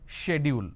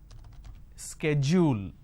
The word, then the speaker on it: schedule: I mean by this the British pronunciation is schedule and American pronunciation is SK schedule and this is a